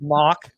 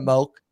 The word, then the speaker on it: Mauch: For you, it's Mock instead of Moke, and for Gedeke, it's Gedeke. I feel like even Baker says Gedeke sometimes still, or Gedeke. I'm like, it's Gedeke and it's Moke, guys.